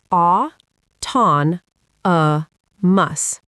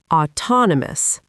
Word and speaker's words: autonomous: Autonomous. As in self-driving, independent, operating on its own. Say it slowly. Au ton uh mus. The stress falls on the second syllable. Autonomous.